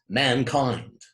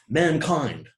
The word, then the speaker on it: mankind: combinations of independent nouns, such as mankind. I think both of those syllables are stressed. Perhaps one is a little more stressed than the other, but perhaps the first one is a little more stressed, but still, mankind. I think both syllables take considerable stress, two stresses in a row.